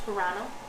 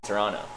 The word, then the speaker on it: Toronto: city in canada see you said the second t you said toronto yeah you don't say the second t toronto you say you say toronto yeah okay yeah or